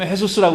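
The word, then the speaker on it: Jesús: 뭐 지저스라고 쓰고 헤수스라고 읽고 굉장히 많아요.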